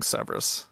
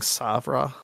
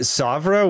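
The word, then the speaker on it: Sèvres: also doing hardly anything Severus which I'm pronouncing that I'm totally butchering that pronunciation I think it's actually like hardly anything Sabra because it's French okay sorry we do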